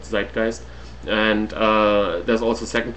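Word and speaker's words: Zeitgeist: a video available uh it's called sist um it's spelled z e i uh uh t g e i s it's the German word zist and uh there's also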